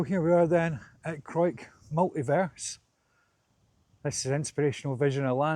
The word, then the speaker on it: Crawick: This is the Crawick, I'll pronounce it correctly, the Crawick Multiverse by Charles Jencks.